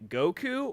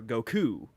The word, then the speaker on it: Goku: things is different yeah like the age-old argument for Dragon Ball fans of like do you say Goku or Goku like the Japanese put the stress on the COO Americans put the stress